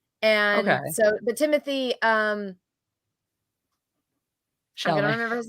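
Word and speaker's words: Timothée: It's pronounced Timothy, but it's spelled like it's like Timothy.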